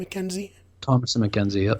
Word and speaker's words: Thomasin: Thomasin McKenzie? Thomas and McKenzie, yep. Thomasin McKenzie.